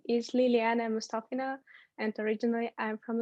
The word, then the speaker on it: Liliana: and oh actually really quickly is it definitely pronounced liliana yes yes yeah okay but you can call